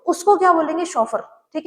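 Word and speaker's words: chauffeur: शॉफर। ठीक है? सी एच ए U double F ई यू are. Spelling पे ध्यान रखना है। प्रोनंसिएशन भी इसकी शोफर है।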